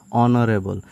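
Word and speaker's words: honourable: যাব এন কি হব যদি এইচ ওর উচ্চারণ নয় সাইলেন্ট হয়ে থাকে তেয়া হদয় তাত কি হব এন হব যে হি ইজ নট এন অনরেবল অনরেবল হবো পারে যদি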